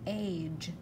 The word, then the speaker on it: cage: Find a, silent E making the A say A, cage, cage.